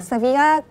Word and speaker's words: Sevilla: You have Sevilla. Yes. Did I pronounce it correctly? Yeah, Sevilla.